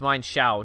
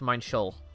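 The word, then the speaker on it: Minccino: like Huey cently and before somebody says it's mine Shou no it's mine Sheol i I should know I said I saw Loxton explain why it's mine Sheol mine Sheol or something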